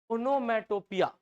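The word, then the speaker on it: onomatopoeia: ओनोमेटोपिया ओ या। अब पोइया नहीं है भैया, यही है ओनोमेटोपिया।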